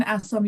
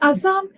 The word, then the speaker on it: Assam: And how is the weather like in Assam?